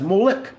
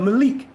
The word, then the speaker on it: Moloch: But the case of Moloch, purposely mispronounced as Molech instead of Malik, using the vowels of the Hebrew, the Bashik, the Shem.